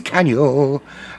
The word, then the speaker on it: Caniel: His name is Caniel. And it rhymes with Cocker Spaniel.